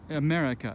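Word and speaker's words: América: about vocal stress so america the vocal stress falls on the second syllable the the mat it's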